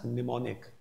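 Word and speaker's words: mnemonic: will be pronounced as pneumonic M will be silent here okay then coming on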